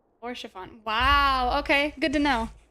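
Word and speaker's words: Haurchefant: Oh, and Harshifon is Orchafon. Orchafon.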